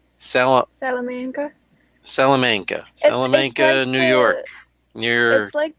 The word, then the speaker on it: Salamanca: always get it wrong salamanca salamanca salamanca new york near institute the hotel said pronounce it like salamander yeah but like i still will pronounce it wrong salamanca i keep want to say salamaca but anyway salamanca new